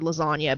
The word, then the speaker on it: lasagna: I became obsessed with the word lasagna because the G is silent but anyway I digress